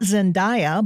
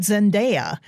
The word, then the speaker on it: Zendaya: The star of the movie Challengers, it's not Zendaya, but Zendaya.